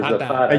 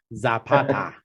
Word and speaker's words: Zapata: Or Zapata. You didn't say it right, Jeff. I like the way he said it a lot better. Yeah, let's hear you try, Luke. Zapata. You gotta roll Zapata.